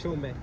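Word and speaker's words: Chaumet: शो में शो में यहां पे बेसिकली वो टी को जो है ना वो साइलेंट कर देते हैं।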